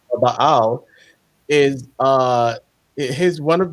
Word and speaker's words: Baal: of ba y ba or bael I think that's the right pronunciation bael Baal is uh his one